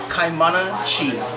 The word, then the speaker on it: Kaimana Chi: Can you give my audience the correct pronunciation of your name, Chef? Yeah, sure. no. My name is Kaimana Chi.